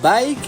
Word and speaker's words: BAIC: Jeep Wrangler did you know that bike is pronounced as bike b i k e was found in 1958